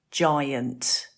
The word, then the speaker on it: giant: and then we have the soft G which is in words like Giant and illegitimate more of a j if you were to look at the letter J it would be like a j wouldn't it yes it